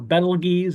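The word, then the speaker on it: Betelgeuse: legs we have uh Beetle juu or Bal Gees as as it's technically pronounced and then we have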